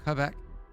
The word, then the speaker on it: Quebec: Yeah, Fake probably French, from fake Quebec. Canadian, all God. awful. Quebec. Does he want his own currency? What a guy. Isn't it not Qua? It's Quebec.